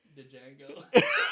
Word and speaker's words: Django: Okay, is there a fucking P pronounced in psychic? Psychic. Night? Knight. The G? Django.